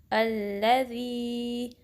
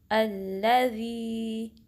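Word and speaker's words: الذي: तो इसको ऐसे पढ़ेंगे, अल्लज़ी, ज़ी के 2 काउंट्स लंबा करेंगे, हमज़ा को लाम से मिलाएंगे, अल्लज़ी अल्लज़ी। आप भी मेरे साथ प्रैक्टिस करें, अल्लज़ी अल्लज़ी, ठीक है। ज़ाल को सही प्रोनाउंस करना है, जी की साउंड ना आए।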